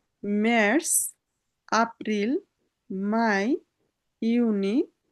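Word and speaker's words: Juni: Mass April my, ইউনি, ইউলি, August, September, October, November, December.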